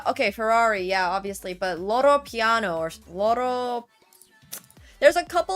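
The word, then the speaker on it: Loro Piana: I pronounce it Porsche. I don't know if that's right. Lamborghini is Italian. It is Loro Piano, okay.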